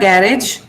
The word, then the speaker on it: garage: Okay, it is not garage. Most Telugu people pronounce this garage. This is actually pronounced garage. Okay, this is g and this is j. The last g here. This is pronounced j.